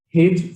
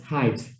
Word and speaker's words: height: i pronounce okay okay i always uh pronounce uh this as hint from uh five years old till now okay so i will have to uh correct it as height okay thank you okay